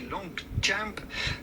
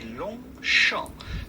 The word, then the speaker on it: Longchamp: at the very end is also silent. So do not say Longchamp, Longchamp, absolutely not. Just say Longchamp, Longchamp, Longchamp.